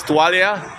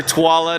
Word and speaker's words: Tuala: Some people like to say our name is Tualia, but I tell them I'm not a towel. We're Tuala, not Tualia, because I know how it's spelled in Tagalog.